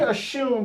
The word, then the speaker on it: Oshun: Now, we say Oshun, but it's spelled O-S-U-N in Yoruba. But the Yoruba pronounce their S's as sh. They don't pronounce S as s like we do.